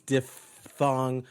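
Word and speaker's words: diphthong: it's coming at him repeat after me dog thong don't be a dip wit it's diff thong trif thong you want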